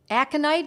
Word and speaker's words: aconite: Aconite is what it's said is how it's said for short.